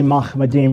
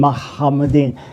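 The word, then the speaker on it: מחמדים: So it is popular pronunciation when you have a doubled chet, which is a rare form that you say Muhammadim rather than Muhammadin.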